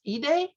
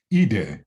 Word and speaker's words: Ide: joe i but it's e day e day yeah i i have been uh pronouncing joe's name i'd um but it's it's it is uh the the japanese pronunciation um and and if